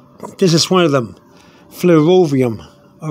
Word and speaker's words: flerovium: class L uh which is for the element flerovium Capal f l e r o v i u m f l e r o flero vum v IU M some people might pronounce it flum flum but uh but it's